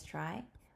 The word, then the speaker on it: trie: everyone welcome back today we have 208 Implement try or a prefix tree a try pronounced as try or prefix tree is a tree data structure